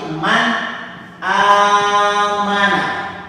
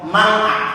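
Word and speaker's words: مَنْ آمَنَ: Man amana. Man amana. Jadi dibacanya jelas hamzahnya. Man tidak boleh mau atau mang tidak boleh. Harus dibaca man, nunnya jelas, hamzahnya juga jelas.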